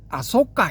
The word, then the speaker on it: 아쇼카: 그래서 이거 일부 초기불교하는 학자들도 그렇고 또 자칭 이제 초기불교 전문가라는 분들이 아까 아속가 이렇게 발람을 하거든요. 그 이게 이제 빨 빨리식 발음이랍니다.